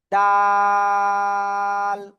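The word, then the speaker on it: دال: এই যে জিহ্বার আগা, এই যে উপরে দুই দাঁতের গোড়ায় লাগাবেন, লাগিয়ে এই অক্ষরটা উচ্চারণ করতে হবে। 3 আলিফ টানিয়া। ডাল, ডাল।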